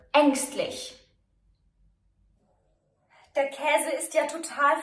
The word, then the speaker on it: ängstlich: It can be pronounced long, as in Käse, or short, as in ärgerlich or ängstlich.